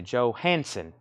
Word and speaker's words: Johansson: Johansson. 3 syllables, as it's read.